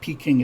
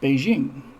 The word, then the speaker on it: Beijing: was mao se tun but now it's not peaking it's beijing and that guy in